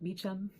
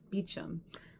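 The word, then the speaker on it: Beauchamp: um bamp which uh apparently in English they pronounce it more like beam which that severely confused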